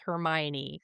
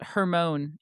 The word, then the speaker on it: Hermione: Her name was just Hermone in my head and then the movies came out and I went, "Wow, not even close."